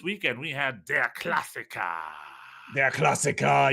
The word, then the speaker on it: Der Klassiker: Der Klassiker. You got to say it like that.